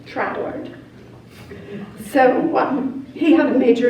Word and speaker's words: Troward: Some people say Troward, some people say Troward. We listened to someone who was English and he pronounced it Troward.